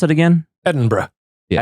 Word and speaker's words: Edinburgh: Edinburgh. Yeah. Edinburgh, like bruh. Yeah, kind of.